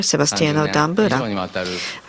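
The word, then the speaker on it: Sebastiano D'Ambra: Later on, I apologize for mispronouncing the name. It should be Father Sebastiano D Ambra.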